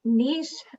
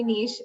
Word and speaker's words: niche: Niche, in Canada, we say niche. I know in the States, you guys tend to say niche.